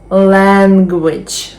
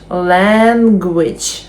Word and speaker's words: language: children problem problem problem два склади language language language langage дуже багато букв але лише два склади Doctor Doctor Student Student